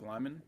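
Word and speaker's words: Liman: Lehman, is that how you say it? Doug Lyman? Yeah.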